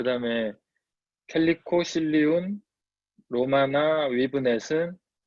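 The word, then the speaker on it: Calico: 네, 그 사전에 단어 그 발음 기호를 보면 캘리코라고 옮기는 게 맞는 것 같습니다. 네, 그럼 캘리코로 이게 한국 사람한테 좀 친숙한 발음이 있고 좀 그런 게 좀 차이가 있긴 하거든요.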